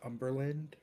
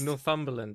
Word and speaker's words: Northumberland: This one's $2.5 million in North Uberland. I just realized you said Northland, which is just hilarious. How is it pronounced? Northumberland. It's like all one thing.